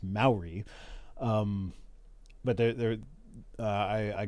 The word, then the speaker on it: Maori: bunch of Maori or no I'm saying that wrong Maori is how you say that mayori is how I read it but it's pronounced Maori um but there I